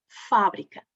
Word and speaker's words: fábrica: Aqui é tónica, dizemos A, é aberta, fábrica. Mas quando temos a palavra em posição átona, é fabricar. O A, que é aberto, passa a semifechado. Fábrica, mas fabricar. Fabricar. Esta é tónica, por isso é fabricar.